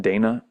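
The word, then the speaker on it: dāna: I pronounce it Dana. My sister's actually the one who named her after the Buddhist word, though, Donna. But that sounds like our English name, Donna.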